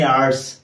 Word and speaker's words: hour: जेमिति हमें आर को पढ़ंती ना केते घंटा हेची हाउ मेनी आवर्स आउ केते घंटा रहिला हाउ मेनी आवर्स लेफ्ट.